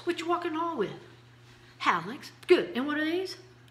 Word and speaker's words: hallux: toe, is called a hallux. And here's how you can remember them. You pump gas with your pollex, but you walk the hall with your hallux, which is spelled H-A-L-L. That's right, hallux.